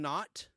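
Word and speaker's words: Naught: Hello to Citizen Not. Not is spelled N-A-U-G-H-T, like an Argonaut or an astronaut.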